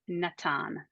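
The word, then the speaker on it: נתן: verb because it hasn't doesn't have any pointing so we would say Natan and I would put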